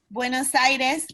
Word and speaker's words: Buenos Aires: Vanessa, can you give us the correct pronunciation for Buenos Aires? Sí. Buenos Aires es una de las ciudades más grandes del mundo con una población de más de 17 millones de habitantes.